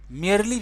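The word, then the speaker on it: merely: मेयरली का मतलब होता है मुश्किल से, मेयरली भी ऐसे प्रोनाउंस करते हैं, मेयरली, मुश्किल से संजय दत्त के पास 6 महीने हैं जीने के लिए, मतलब 6 महीने जिंदा रहेंगे।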